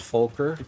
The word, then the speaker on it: Fokker: That's pronounced Folker. Fokker, sure.